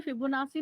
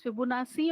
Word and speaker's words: Fibonacci: Fibonacci, Now, when you're going to use it Italian, Fibonacci, it'll say it as Fibonacci because Italian people they use it as Fibonacci.